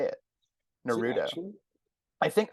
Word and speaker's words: Naruto: in America say it Naruto I think I think it makes more sense for English speakers to stress that middle syllable and so that's why but even the English dubs as Naruto well they know a